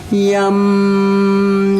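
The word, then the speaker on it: यं: One syllable Sanskrit mantra. Yum, yum, yum.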